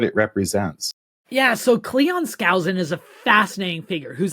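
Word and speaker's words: Skousen: Scousin.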